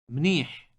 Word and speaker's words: منيح: منيح منيح Note that the final sound in the word is produced in the throat with some friction. It is similar to the English H, but with friction.